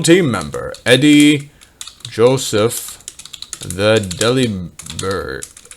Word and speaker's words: Delibird: member eddie joseph the deliberate deliberate it's actually kind of pronounced that way uh as uh it's that's a pun on deliver like here's your delivery